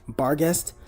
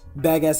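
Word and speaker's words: Barghest: Also, I know it's actually pronounced barest, but badass is just easier to say and I don't sound like a pirate while saying it.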